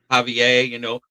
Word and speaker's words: Javier: It would be, which means the H is silent. Right. But the J makes an H noise in Javier, so that would be Postinston, something like that.